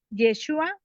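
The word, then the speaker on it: ישוע: exacta miren por ejemplo yeshua es la la forma correcta de pronunciar el nombre del mesías y este este nombre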